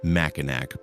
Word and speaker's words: Mackinac: Mackinac Island, spelled Mackinac, pronounced Mackinac because Michigan, is a small island where motorized vehicles have been banned since 1898.